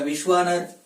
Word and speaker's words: विश्वानर: और जब इसका उच्चारण करते हैं तो दीर्घ के रूप में होता है विश्वानर, ऐसा होता है।